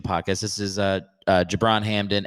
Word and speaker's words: Gibran Hamdan: this is uh uh jabron hamden and that's with a soft g softer i guess you did hear that